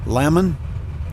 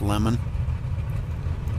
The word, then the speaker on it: Lemon: In seventh, the 502 of James Lemon, and that's how it's pronounced, Lemon.